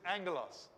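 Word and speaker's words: ἄγγελος: back rough breathing mark smooth breathing mark at the front goes this way like in anger loss we don't pronounce it right it's got to be there because if it begins with a vowel then it needs to have a breathing mark but we don't pronounce it it doesn't make any difference to the sound this is angelos but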